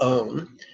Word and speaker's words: om: On the out breath, we're going to intone the syllable om that sounds, or at least rhymes with the word home.